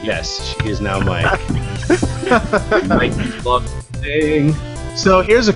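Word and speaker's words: Mikie: I would pronounce that Mickey. It's Mikey. That's how I spelled it. It's Mikey, damn it.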